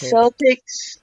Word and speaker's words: Celtic: sound is the answer the only time it's celtics is when you're talking about the basketball team